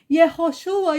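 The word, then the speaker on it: Yehoshua: a pessoa que tá lá em Israel falar yoshua yosua você vai chegar lá e vai falar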